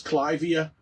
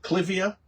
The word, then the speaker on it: Clivia: This is Clivia miniata. You might pronounce it Clivia, but Mr. Clive might be upset about that, having his name mispronounced for all of history.